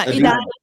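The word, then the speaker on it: Edina: the Washington Avenue warehouse in, how do you pronounce that? Adina? Yeah, Adina.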